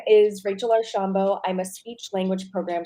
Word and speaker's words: Archambault: job with the start of it my name pronounced perfectly great job uh my name is Rachel arshambo I'm a speech language program specialist in Broward